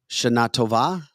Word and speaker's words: Shana Tova: Phonetically, Shana Tova.